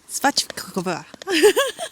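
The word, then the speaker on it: svíčková: And I had something called svačkova.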